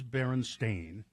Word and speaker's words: Berenstain: For instance, the Berenstain Bears book being spelled and pronounced Stein, or not Stain, as the publishers claim. Mm-hmm. But it is Berenstain, but many people remember it as Steen or Stein.